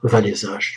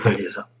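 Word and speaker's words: Wałęsa: libre qui s'appelle maire va les âges tous prononcés à la polonaise en français dit lech walesa l'attentât raté après chantant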